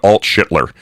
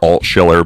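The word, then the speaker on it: Altschiller: New Hampshire State Senator Deborah Alt-Schittler. And I know, yes, I'm purposely mispronouncing her name. It's Deborah Alt-Schiller, but, hey, listen, you know what?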